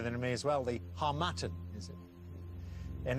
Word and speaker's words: harmattan: Sahara so wind okay seem to know the pronunciation better than me as well the harmattan and it's the right answer well done -